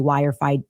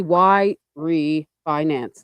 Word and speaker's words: Yrefy: How did she WFI wirefi? It's supposed to be Y refinance.